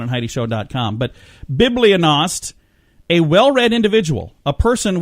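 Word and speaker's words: bibliognost: eloquent word of the day and today is Biblia nost what do you think Biblia nost means really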